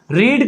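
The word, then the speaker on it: read: रीड का जो third form होता है वो बोलने में तो अलग लगता है लेकिन होता है वही है, स्पेलिंग वही होता है, जिसको कहते हैं रेड, बाय राम।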